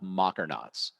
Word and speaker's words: mockernauts: came up with this term called mockernauts so rhymes with astronaut so a mockernut is